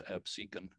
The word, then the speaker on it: Absecon: episode a couple of weeks ago on uh Absecon Lighthouse and uh Absecon people you said Absecon people say that all the time but they'll they'll tell you if you go there they'll tell you it's Absecon and they have every right yeah well you